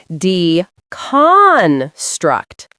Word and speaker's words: deconstruct: Deconstruct. Stress the second syllable.